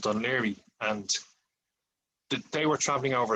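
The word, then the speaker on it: Dún Laoghaire: So I went out to meet them in Dunleary, and Dunleary, as they thought it was called because of the way it's spelled.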